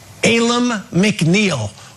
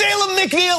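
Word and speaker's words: Alim McNeill: clip from this very show back in August Alum McNeil who is Ayla McNeil let me tell you about Ayla McNeil I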